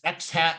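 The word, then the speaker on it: x̂: I'm refer it as X hat and Y hat so X hat I literally will pronounce it as X ha that's how the physicist say it why with the party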